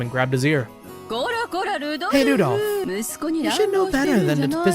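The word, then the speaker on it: Rudolf: Anyways, this guy's name is pronounced Rudolph.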